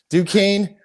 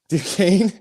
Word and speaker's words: Duquesne: good at pronouncing words mccain is it duquesne you just yeah duquesne du kane is last in their conference they're on a 12-game losing streak they're one and 12.